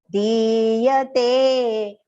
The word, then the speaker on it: diyate: So yaddanan diyate, ti is long and the te is also long.